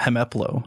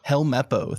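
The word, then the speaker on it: Helmeppo: i or are you a fan of uh hemeplo hemaplo i always helmepo thank you i always mispronounce his name the little uh kid who's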